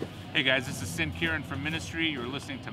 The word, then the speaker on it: Sin Quirin: Or, if you want the correct pronunciation, I'll say my entire full name. Sin Quirin.